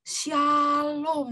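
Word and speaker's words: שלום: Nah, itu bahasa Ibraninya tuh ya, shalom, dibacanya dari kanan ke kiri. Yang huruf kayak W itu S, huruf S itu ya dalam bahasa Ibrani. Yang kayak T itu A ya. Jadi shalom.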